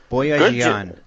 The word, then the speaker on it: Boyajian: Tabitha Boyajian? Boyajian. Well done. I mean, I'm an astronomer. I'm not a pronunciation specialist, so I'll go with you on that one.